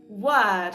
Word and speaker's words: word: Слово номер три word, яке перекладається як слово. Дуже часто ви його вимовляєте як we word, тобто ви намагаєтесь пити якось на о, але там звук не о, там звук е е.